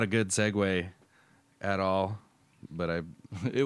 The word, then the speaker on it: segue: Italian segu it follows I would expected you to pronounce that a little bit better segue son of a pronunciation in English differs from The Original Italian pronunciation I can't figure out